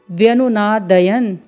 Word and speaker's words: व्यनुनादयन्: तो तुमुलो व्यनुनादयन, व्यनुनादयन, और हलंत लगा है न में, व्यनुनादयन। तो आइए श्लोक का उच्चारण करते हैं।